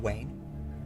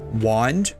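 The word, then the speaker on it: wane: The expression uh wax and Wayne, right?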